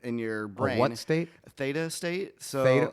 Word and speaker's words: theta: Theta state. So, spell it. Theta. T H E T A. Theta. like the Greek letter thing I guess.